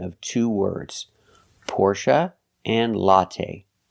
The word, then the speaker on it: Porsche: pronunciation of two words Porsche and Latte first let's talk about Porsche in America people pronounce this word two ways Porsche and Porsche porsa is more correct according to the original pronunciation but